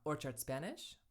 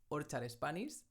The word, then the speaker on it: Orchard Spanish: Hello everyone, this channel is called Orchard Spanish or... pronounced in a slightly more Spanish way "Órchar Espanis".